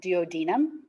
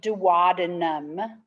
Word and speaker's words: duodenum: called the the duodenum sometimes this people pronounce it duodenum i think that both of those actually work depending upon your i think one's english and one's american so duodenum is the first part